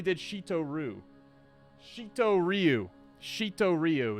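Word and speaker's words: Shitō-ryū: shito Roo shito Ryu shito Ryu is the correct pronunciation an old uh from old Okinawa not not the same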